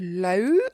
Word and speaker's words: Loup: And this one is called Orchestra, and it's by the artist Low. I believe you don't pronounce the P, if I'm not mistaken, and if I understand Google and everybody correctly.